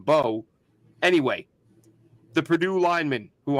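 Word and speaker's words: Mbow: um actually no no I was calling him embau and I think that's how I Was Heard it pronounced the other day and I'm like that's how I was saying it then Daniel Jeremiah saying Bo anyway the Purdue lineman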